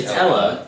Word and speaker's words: Ella: Is it Ella? It's Ella. She was I called keep Elle. forgetting She that. doesn't like to be called. Yeah, you didn't call her L though, that was bad.